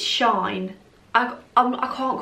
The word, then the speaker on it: SHEIN: you're all good so apparently it's not shein it's not sheen it's shine i i can't call